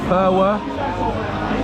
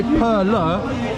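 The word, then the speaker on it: Perła: Yeah, so I think this beer is called Perwa. I think a lot of people say Perla, but correct me if I'm wrong, but I think this L symbol, you pronounce it as a W.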